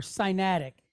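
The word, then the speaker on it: Sinaitic: protocyanatic or cyanatic.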